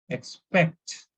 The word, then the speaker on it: expect: For example, in this case, expect, stress on PECT. It should be like expect, expect.